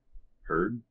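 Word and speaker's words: Heard: Yeah, this one rhymes with tur. Herd. Herd. Amber Herd.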